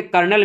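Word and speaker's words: colonel: सी ओ एल ओ एन इ एल जो कहीं से नहीं लगती कि कर्नल की स्पेलिंग है ये। जैसे लेफ्टिनेंट में एफ नहीं मिल पा रहा वैसे कर्नल में कर्नल की स्पेलिंग तो बिल्कुल अजीब सी है।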